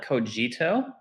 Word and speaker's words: Cogito: you a fun yet stupid question am my pronounce it correctly coito protocol so we we call it coito uh it's from the lito ero some you